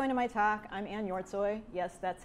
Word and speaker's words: Hjortshoj: before I go into my talk I'm an your toy yes that's how it's pronounced I've been at CarGurus since November of